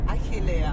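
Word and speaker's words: Achelia: It's the first time I've ever pronounced a Greek village correctly. Achillea. Oh, right. How'd you say it? Achillea.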